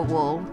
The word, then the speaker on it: wool: say for my mom she tends to say whoa which is I suppose a correct pronunciation of the OO sound but its wool oh oh so we